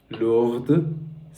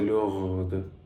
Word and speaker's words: lourd: Mon accent, est-ce que mon accent c'était heavy, Lourd, lourde? Est-ce que mon accent c'est lourde? c'est lourd. C'est lourde. Non, non, non, pas de D.